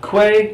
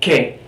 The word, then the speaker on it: que: It's always pronounced like the hard K sound, okay? So this word you're going to see a lot. K. Not que, not qui, but que.